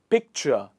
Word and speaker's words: picture: The stress here is picture. It is on the first part, and we say picture. But in the second word, the stress is on picturesque. Picturesque. The stress comes towards the other side of the word.